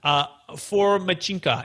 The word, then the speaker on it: Fomichenko: So please welcome to the show with me, Dmitry Fomichenko. And please, Dmitry, make sure we pronounce that name correctly, because I know I just butchered that. Brett, thanks so much for having me. You did well.